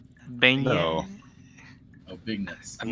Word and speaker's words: beignet: These are beignets.